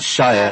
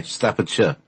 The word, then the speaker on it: Staffordshire: you say it yes it's not shire and so it's a short so short I Staffordshire okay I know I